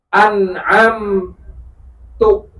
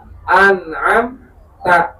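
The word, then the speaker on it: أَنْعَمْتَ: An'am tu, harusnya apa? An'am tak, tapi dia bacanya An'am tuh ini akan merubah makna. Ini merubah makna. Kenapa? Kalau tak itu kamu, kalau tu itu saya.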